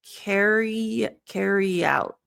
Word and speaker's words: carry out: Now here, technically it's a vowel sound with a vowel sound. There's a more advanced pronunciation thing that happens called a Y intrusion. There's a little bit of a yeah sound that links.